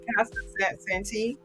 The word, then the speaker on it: Casa Santi: So David is an industry ambassador, a founder of Casa Santi.